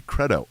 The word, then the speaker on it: credo: like the the Creed I like the long e on it better and I also like the band Creed so it works out so it should be Credo Inon creto house but I